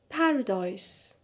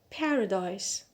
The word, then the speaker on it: paradise: the end on nay paradise paradise so here the stress is on the first syllable which is subtract subtract